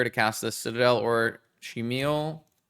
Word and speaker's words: Chimil: cast the Citadel or Chimil. Chimel? Chi? Meal. Meal. It's like double E sound, double E sound.